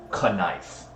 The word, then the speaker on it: knife: funny story about that it's actually Old English they used to pronounce it kife and um what was